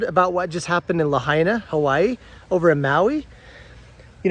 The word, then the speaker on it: Lahaina: Have you heard about what just happened in Lahaina, Hawaii, over in Maui?